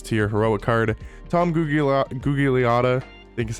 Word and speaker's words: Gugliotta: Tom Gugliotta, I think is how you pronounce his name.